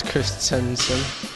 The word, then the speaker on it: Christensen: Yeah, it's Christensen. So it's often pronounced wrong, so we'll just clear that up for the viewers and yeah, just for yourself as well.